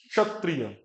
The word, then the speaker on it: क्षत्रिय: इसको कुछ लोग छ बोलते हैं, क्षत्रिय। छ नहीं है ये, क्षत्रिय, क्षत्रिय। तो क भी बोलना है, श भी बोलना है, और भी क्षत्रिय।